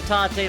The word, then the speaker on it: tate: a few other YouTubers tape mode we'll be using the Tate mode pronunciation because it is correct and it just literally